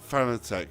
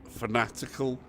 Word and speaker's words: Fanatec: I'm saying for Fanatec. I don't know why I say Fanatec. It's phonetic, like fanatical. So phonetic, but not Fanatec. It's fanatic. That's the proper pronunciation.